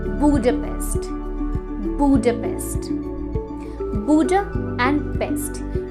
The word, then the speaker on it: Budapest: लेकिन इसकी pronunciation बुडापेस्ट नहीं, बुडापेस्ट है।